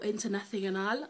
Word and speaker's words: Internacional: And this was from International. Or Internacional, as the Spanish would say it properly.